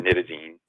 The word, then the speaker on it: nitazene: It's pronounced either nitazene or nitazene, which had gotten a